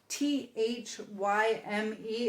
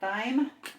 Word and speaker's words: thyme: T H Y M E is pronounced thyme, not dime.